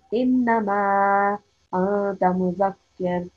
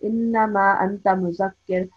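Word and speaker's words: إِنَّمَا أَنتَ مُذَكِّرٌ: So it will be pronounced innama anta muzakkir. So if you go too fast, innama anta muzakkir, that would not be correct.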